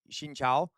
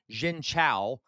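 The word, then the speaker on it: xin chào: Uh Shincha. That's literally how you're supposed to pronounce it. It's a tonal language. I cannot say it without the accent. It does. It's not the right word. If I say Xincha, that's completely the wrong word.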